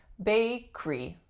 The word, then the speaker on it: bakery: bakery now this one looks like it should be bakery bakery but the middle syllable goes away and we get bakery bakery do you know of